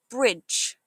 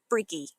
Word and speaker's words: bridge: Watch for the D sound at the end. It sounds like a J. So, it's bridge, not brigy.